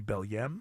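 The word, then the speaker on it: Belém: think it would be bellm I think it's the way it looks like it's pronounced uh yeah knock down that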